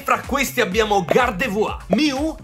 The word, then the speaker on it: Gardevoir: e fra questi abbiamo gardevoir Miu e Charizard perché Sì lo pronuncia alla francese che fa più figo e almeno una di